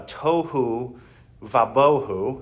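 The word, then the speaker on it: tohu wa-bohu: is the Hebrew uh toou vaboh it's very interesting uh that it Rhymes it is just toou uh and boho uh and it means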